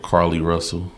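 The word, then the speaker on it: Carlee Russell: I want to ask y'all about Carly Russell. That's how you pronounce her name?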